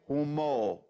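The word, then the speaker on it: הומור: in the English way but in the German or Russian way we say who more homo and a so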